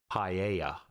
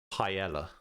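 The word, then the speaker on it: paella: my YouTube okay so in Spanish it's also pronounced paa in English apparently it's just Pella my compliments to the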